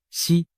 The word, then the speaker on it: 石: 指胡锦涛，实在某些方言里读作西，实难逃就